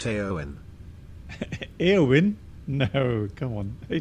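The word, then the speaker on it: Éowyn: It's pronounced Eowyn.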